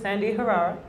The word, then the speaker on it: Sandi Herrera: I'm actually sitting here right now with Sandi Herrera.